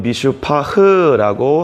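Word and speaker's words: מִשְׂפָּח: 정의는 히브리어로 미슈파트라고 하고 포악은 미슈파흐라고 합니다. 그리고 공의는 체다카라고 하는데 부르짖음은 체아카라고 읽습니다.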